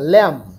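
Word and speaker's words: lamb: ছাগলের বাচ্চাকে কিড বলছে শিপের বাচ্চাকে ল্যাম বি এর উচ্চারণ হয় না ল্যাম horse and phone dog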